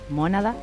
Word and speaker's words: Mónada: Bueno, el disco está circulando por YouTube, Mónada, con acento en la O.